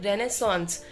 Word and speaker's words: Renaissance: सो इसको बोलते हैं रेनेसांस, सॉन्स होता है रेनेसांस, वैसे तो रेनेसेंस इसकी स्पेलिंग होती है लेकिन मैंने गूगल में देखा तो रेनेसांस आ रहा था और रेनेसा भी बोलते हैं कुछ लोग शॉर्ट में।